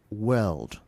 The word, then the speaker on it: world: Then the pronunciation is world, not word. And the word you kept saying in the word. So it sounded like it sounded like WARD instead of world, right?